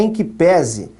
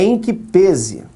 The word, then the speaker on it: em que pese: A pronúncia certa não é em que pese, é em que pese.